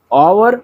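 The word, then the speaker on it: hour: देखिए ऑवर, honest और higher, ये तीनों जो है शुरुआत का एच साइलेंट होता है और शब्द का उच्चारण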